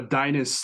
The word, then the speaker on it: Deines: Deans. Danes. How do you say it? It's a Dinus. Like Dynasty.